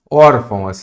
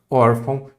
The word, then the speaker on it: órfão: das paroxítonas não pode órfão duas Ox as paroxítonas terminadas em ão e an órfão e órfão e trouxe